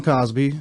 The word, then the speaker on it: Causby: I always had to say my name's Cosby spelled c-a-u-s-b-y no relationship all right all right